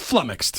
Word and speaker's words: flummoxed: So it's he's overpronouncing the ox part a little bit, but it's just flummoxed.